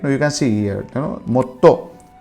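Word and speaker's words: もっと: Now you can see here, motto. So a small su is there in the between. So mo, small su and to. So it becomes motto.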